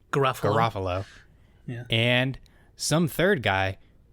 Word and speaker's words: Garofalo: Garofalo.